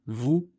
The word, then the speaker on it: vous: Ajoutez à cela les lettres muettes, c'est-à-dire des lettres qui s'écrivent mais ne se prononcent pas, comme le « S » à la fin de « vous » ou le « T » de « petit ».